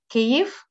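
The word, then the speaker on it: Kyiv: spelt uh according to the way the ukrainians pronounce these words not uh not not from the russian language uh so it's not kiev it's kiev it's not love it's yeah you can see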